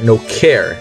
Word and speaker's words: No Char: The no car, no char, no care deck actually is what it is pronounced, because it means no character.